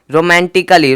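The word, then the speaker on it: romantically: A double L वा रोमांटिकली रोमांटिकली क्या है रोमांटिकली रोमांटिकली रोमांटिकली सेम देखो ए के बाद डबल एल हुआ है तो ए का कोई भी उच्चारण नहीं निकला अच्छा मैं इसका जो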